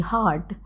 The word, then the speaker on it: hart: But when Curio pronounces H-A-R-T, heart, on stage and to Orsino, it sounds like H-E-A-R-T also, like, because they have similar pronunciations.